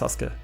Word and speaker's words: Sasuke: But actually it's pronounced Sasuke, right? You don't pronounce the U, but you have to know that.